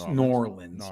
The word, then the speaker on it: New Orleans: have been New Orleans norleans you have to say it like nor Orleans yeah I have been